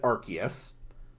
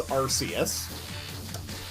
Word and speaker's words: Arceus: When it was first released, I said Arceus. Then we spent years with people convinced that it was Arceus.